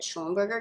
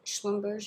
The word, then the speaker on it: Schlumberger: feel really stupid because i called it schoenberger because it was fun to say apparently it's schlumberger yay or something like that anyway yep that's me